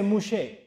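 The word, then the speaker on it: Moshe: say new science Ebru they say mouche so total Musa basis for a new shape that's how they pronounce it okay what does mouche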